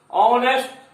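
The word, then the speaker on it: honest: ऑनेस्ट, H silent है।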